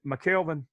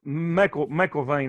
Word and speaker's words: McKelvin: Is it McKelvin? Yeah, that's right. McKelvin. Okay. I was saying McElvain. I didn't know why before I heard before I heard Nathan pronounce it. I didn't know how to pronounce it right. So Yeah, it's Scottish. Everybody messes it up.